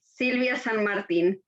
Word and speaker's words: Silvia San Martin: did i did i get somewhere close to pronouncing your name right it's okay sylvia martin is okay yeah yeah that's not terrible that's